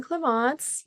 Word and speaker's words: Clémence: Yes, so I'm Cleance, last name, universally acknowledged as a name that is absolutely impossible to pronounce.